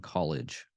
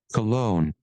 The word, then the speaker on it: Cologne: In the grounds of Copeland Plaza Prison Coolidge. Oh, is it Coolidge? Cologne. Oh, Cologne. Sorry, mispronunciation.